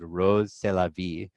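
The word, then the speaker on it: Rrose Sélavy: a drag persona named rose c'est la vie spelled RR o SE SEL avy and when you pronounce that with a French accent and in French it sounds like eros c'est la vie I'm eros it's its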